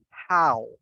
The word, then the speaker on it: how: don't say home instead say how like cow okay so we say